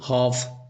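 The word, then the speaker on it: half: जैसे हॉफ हाफ का spelling इस प्रकार से होता है किंतु पढ़ा इस प्रकार से जाता है यानी कि एलन यानी कि एल साइलेंट रहता है।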